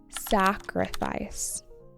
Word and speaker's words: sacrifice: Sacrifice. Sacrifice. With the emphasis on the first syllable.